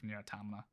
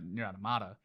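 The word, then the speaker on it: NieR:Automata: the end credits of nira tamila or niratamata sorry i've been saying it wrong my whole life uh near adamada but i would probably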